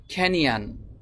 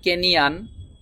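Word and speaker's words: canyon: কোন কাজে ব্যবহার হয় কেনিয়ান শব্দটি হবে খেনিয়ান আমরা বলি কেনিয়ান কিন্তু ব্রিটিশ আমেরিকান যারা তারা বলে খেনিয়ান খেনিয়ান খেনিয়ান মিন খেনিয়ান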